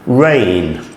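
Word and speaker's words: reign: Rain, veil. There is also another rain, which is spelled R-E-I-G-N, and makes the same sound as the word rain, R-E-I-N.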